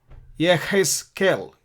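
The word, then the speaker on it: יחזקאל: Yeshayahu Jeremiah is airman Yahoo yirme'yahu Ezekiel is Yehezkel his scale he has killed has killed that's the bit of a difficult pronunciation that the letter head is their hub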